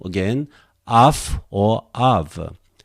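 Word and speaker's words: αυ: Then you may expect RE, but actually they are dealt as a diphthong. Then you have to pronounce either af or av.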